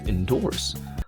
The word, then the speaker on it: endorse: What clues do you have with endorse? Well, it's got 2 syllables with a stress on the second one.